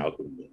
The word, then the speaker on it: ALKIMI: They spell it kind of weird. Because I think there was already This an one? alchemy out there.